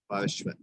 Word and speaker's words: Parshva: Parshva.